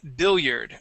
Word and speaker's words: billiard: This word here is billiard. Okay. billiard, Billiard instead of bil. billiard, Yeah, they're going to be short I's.